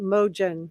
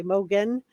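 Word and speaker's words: Mogen: Hol thanks for that I have a friend that says the same name same last name but she pronounces it Moen so I I don't know if I'm gonna I'm gonna try to to just correct myself here and say Mogan zero who installed who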